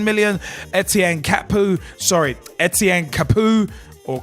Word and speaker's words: Capoue: Chadli from FC Twente for £7 million, Etienne Capoue, or Capoue as some may pronounce it, from Toulouse for £9 million, Vlad